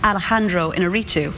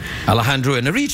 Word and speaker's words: Alejandro Iñárritu: I always try and pronounce it like, you know, I feel terrible saying... I'm not exactly sure whether I get the pronunciation right every time, but it's Alejandro Iñárritu.